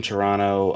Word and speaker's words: Toronto: And if you're from Toronto, um sorry for pronouncing the second T uh so many times in this video. I know I'm not supposed to do that, but I did it anyway.